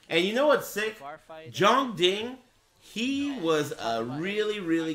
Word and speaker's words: Jeondding: It's not Jeondding, it's Jeondding. There's two Ds, but it's a silent one.